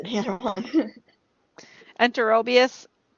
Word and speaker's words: Enterobius: Enterobius, and there should be a bias on the end.